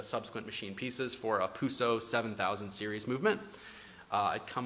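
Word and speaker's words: Peseux: machine pieces for a Puso 7000 series movement. I'd come across, or I guess Pizu, it depends how you pronounce it. I'm kind of in a vacuum here. But to me, it's Puso.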